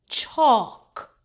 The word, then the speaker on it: chalk: LK says K. The L is silent. Chalk.